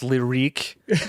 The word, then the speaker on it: Lyriq: There's like the Lyric, which I assume is now pronounced Lyrique, and the Optique, and there was like the Cintiq and the Celestique.